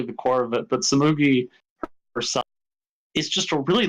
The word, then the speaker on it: Tsumugi: I'm not going to attempt to pronounce her name though, because I will fuck it up. Tsumugi. Tsumugi.